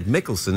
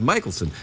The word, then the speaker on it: Michaelson: when I introduced ingred I said mikkelson instead of Michaelson now that's the way my people would pronounce it but apparently people around